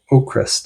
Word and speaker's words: Avkrvst: So check out Waving Up the Sky by Ocrist, and that's spelled AVKRVST, and the V's are pronounced like U's.